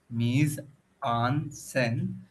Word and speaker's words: mise-en-scène: In the original French, mise-en-scène, pronounced mise-en-scène, means putting into the scene, and it was first applied to the practice of directing plays.